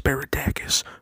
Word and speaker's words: Spiridakos: Oh, I know it's pronounced Spiridacus, but it doesn't rhyme with hoes.